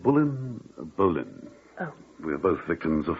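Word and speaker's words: Boleyn: Oh, that is the right way to say her name, isn't it? Bullen.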